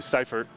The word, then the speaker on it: Seifert: We saw yesterday Matthew Seifert, Matthew Seifert is how he prefers to have his name pronounced. I asked him last night after the game.